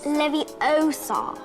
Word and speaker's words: Leviosa: You're saying it wrong. It's Leviosa.